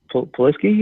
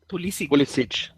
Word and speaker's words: Pulisic: So just figured I'd call in and tell everybody that you know, I can't pronounce his name. Poliski, or what's his name? How do you pronounce it? Pulisic.